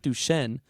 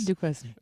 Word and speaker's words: Duquesne: No, it has a Q in it, guys. It's not Duchesne. This is different pronunciation, I guys. said Duquesne. I'm pronouncing it in the proper French.